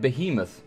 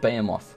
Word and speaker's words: Behemoth: it oh that's right it's pronounced Behemoth I always said bamoth Behemoth do I know